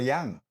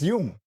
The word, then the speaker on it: Jung: These Americans can't even say Carl Jung; they'll say Carl Young. You know? Bloody hell, learn to say his name, man—he's a Swiss guy. No "Young" there—it's Jung.